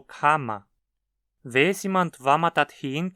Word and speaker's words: kann ma: Mas se a palavra a qual ele se conecta termina em n, o n no final da palavra se converte num m. Ma kann das essen. Kann man das essen? Note como kann ma se tornou kama.